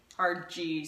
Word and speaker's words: Apogee: and we love our parody parody Apogee right yeah RG soft G um we love our